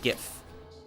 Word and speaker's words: GIF: Linguistically, that is basically what it would be because the G is followed by an I. It's a threeletter word. F never appears in this type of pattern in Latin. It also doesn't really appear that way in French, at least when it came into English. Um, it can't be Greek because there's no ease in it.